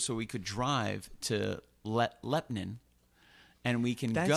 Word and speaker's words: Lebanon: But they say, the locals say Lepnin, Lepnin.